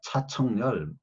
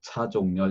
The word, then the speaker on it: 차종렬: 내 이름을 미국 사람들이 발음을 하는데 참 어려워해요. 뭐 기껏 지읒과 치읒을 구분하지 못하니까 차청렬, 뭐 자정렬, 뭐 그게 지읒과 치읒 발음 구분이 안 되는 것 같아요. 그래서 미국의 내 박사 시도